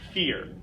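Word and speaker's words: vier: our key sound fear V makes the F the e sound and our well we end up with fear is the number four number five phoom phoom is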